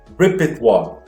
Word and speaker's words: repertoire: Então aqui repertoire, tá? Então essa aqui é a pronúncia dessa palavra estranha pra caramba, repertoire.